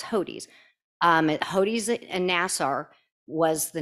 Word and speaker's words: Hodes: heard um hodies is the name some people pronounce it hoats it's not it's hodies hodes and nassar was the name of the